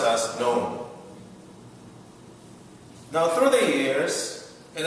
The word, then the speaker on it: None: it means is and how it's pronounced is known like own if I will write